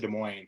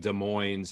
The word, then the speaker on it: Des Moines: the whole show like Des Moines and I would have gotten hate mail from Iowa. It's not Des Moines, Sean.